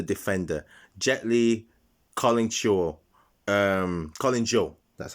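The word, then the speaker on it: Collin Chou: we have the defender gently calling shaw um colin joe that's how you say it and gently um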